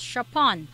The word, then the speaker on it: Chopin: So just to clear with a surname, it is pronounced as Chopin.